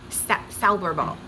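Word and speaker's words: Zauberball: Now, I believe you pronounce this Sauberball. You don't have a Z sound in this.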